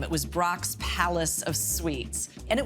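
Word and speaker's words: Brach's: Brock's used to have to print on their wrappers, please ask for B-R-O-X, because a lot of Americans didn't know how to pronounce this German last name.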